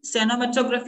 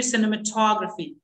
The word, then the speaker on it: cinematography: People say cinematography, it should be cinematography.